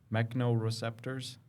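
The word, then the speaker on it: mechanoreceptor: So like mechanisms, mechano-receptors. It's spelled like mechanics. So it's a mechanical receptor.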